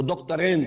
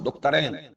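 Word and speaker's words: دكتورين: وہ دکترین ہیں، میں عربی تلفظ استعمال کر رہا ہوں، دکترین، دو ڈاکٹر.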